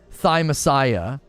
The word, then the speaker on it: Thymesia: whoa it is hard just pronounce it thymesia thy messiah yeah it's thy messiah yeah yeah thigh messiah i'm embarrassed to say